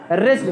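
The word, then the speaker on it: wretched: Washed माने अति दुखी या अभागा, सॉरी रेस्ट है, रेस्ट, डब्ल्यू साइलेंट है।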